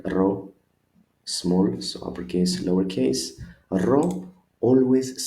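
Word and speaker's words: ρο: The next one is our R, that looks like P. R, so ro, we call it ro, big, ro, small, so uppercase, lowercase. Ro always sounds like R in right, for example.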